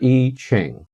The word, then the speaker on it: I Ching: to introduce your teacher mr i pronounced e mr. e ching the sage he's an